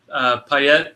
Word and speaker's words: Payet: I thought Payet, is that how you say it?